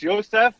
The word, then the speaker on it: Yosef: Americans say Yost, don't they? Yost Schwartz. Yost. It's basically, Yost. It's Yosef. It just dropped the F.